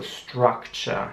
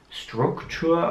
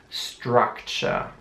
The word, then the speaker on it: structure: mutet wie ein ausgesprochen also structure nicht struktur oder soll sondern structure ist jugend hier sieht man